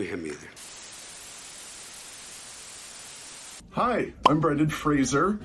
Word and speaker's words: Fraser: Hi, I'm Brendan Fraser. That's Fraser, sounds like razor, which has been mispronounced all my career.